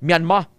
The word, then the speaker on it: Myanmar: condominium dito sa Mandale sa Myanmar or ang pronunciation sa mga tumandok ito Myanmar old name is Burma isa sa mga nasyon